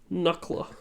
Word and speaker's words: Nucla: Nucla, like Nuka-Cola. Yeah, Nuke and Cola.